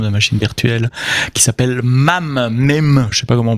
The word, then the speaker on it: MAME: dans un système de machine virtuelle qui s'appelle MAME, je sais pas comment on prononce à l'anglaise, MAME, M-A-M-E, c'est un Multipurpose